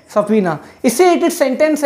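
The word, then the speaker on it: subpoena: Fourth word है सपीना. इसको हम कैसे प्रोनाउंसिएशन करेंगे, सपीना. इससे रिलेटेड सेंटेंस है to order someone to गो टू अ law court to answer questions.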